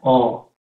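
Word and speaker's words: ㅓ: tiene dos posibles romanizacion sin embargo esta vocal no se pronuncia para nada parecido ni a e ni a e o Perdón ni a u Cómo se pronuncia esta letra Esta letra se pronuncia o vale si esta era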